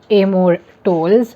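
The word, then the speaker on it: Amor Towles: for me that is the lincoln highway by amor tolls yes i know how to pronounce his name now um again i've covered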